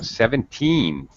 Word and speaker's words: seventeen: you barely hear it 70 70 uh 17 17 they a native speaker will smile when they do the teen because they want to do the full sound and they want to draw it out a little they're really exaggerated she's 17.